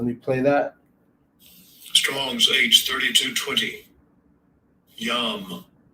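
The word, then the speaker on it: ים: Yam. Yam.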